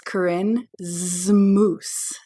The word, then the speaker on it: Corinne Zmoos: So my name is Corinne Zmoos.